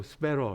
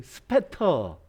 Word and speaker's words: Spatter: 자, 이게 제가 사용하려고 하는 필터 갤러리에 있는 스페러, 제가 뭐 미국식 발음으로 스페러 해봤지, 스페터.